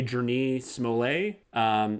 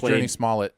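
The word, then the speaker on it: Jurnee Smollett: And then also, I don't know how to pronounce her name. I'm going to say Journey Smollett. She was in Birds of Prey. Yeah. I always thought it was Journey Smollett, but... Journey Smollett, let's do that.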